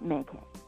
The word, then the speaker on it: MayCay: But it's not me, so dad named me MayCay.